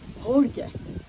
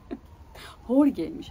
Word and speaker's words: Jorge: H ile, yani J'yi H ile telaffuz ediyorlar. Şimdi İspanyolca zor bir dil. Belki de kolay, bilmiyorum. Yani İspanyolca ile ilgili bir fikrim olmadığı için. J'yi niye H ile okuyorlar? Jorge'ymiş.